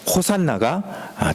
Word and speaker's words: 호산나: 그런데 이 호시아나라는 히브리어를 헬라어 발음으로 읽으면 호산나가 되는 거예요.